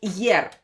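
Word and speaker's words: ер: you don't pronounce it it doesn't have a sound but it's the name is year okay it's called year it doesn't have any translation and this one is yi and the the sound is.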